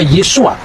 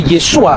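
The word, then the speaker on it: Yeshua: membaca e nama Yesus ketika dia orang Yahudi dia pasti membaca yesua yang percaya bahwa Yesus itu Mesias pasti membacanya yesua hamasiah nah yesua H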